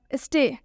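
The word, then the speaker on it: stay: एक और एग्जाम्पल देखिए आप, स्टे। स्टे में ए के बाद से वाई आया हुआ है, इसलिए हम इसमें भी ए का उच्चारण ए से करेंगे।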